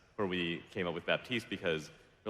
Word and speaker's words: Baptiste: person would read it if I was speaking French then I would say batiste does the P is gonna be silent no matter what but in English I don't know another word has a silent P right so if I'm speaking English I got to say Baptiste nobody's wrong everybody's right